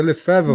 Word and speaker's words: Lefèvre: Falei certo, pronunciei certo, Lefebvre.